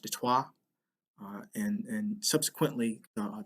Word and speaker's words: Detroit: french detroit means straight uh and french is pronounced detoi uh and and subsequently uh the british follow